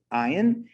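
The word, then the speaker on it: עין: And it's interesting because the letter ayin, the way it sounds, ayin, is spelt ayin yud nun, and that's the word for eye.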